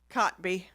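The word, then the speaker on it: Kotb: Cotby.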